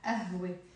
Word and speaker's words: قهوة: Then we have here قاف, which in the Lebanese accent is pronounced as a. I like to sometimes represent it with a number 2, but here I immediately wrote a.